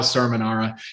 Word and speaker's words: Cerminara: Or for those who know, it's Cerminara.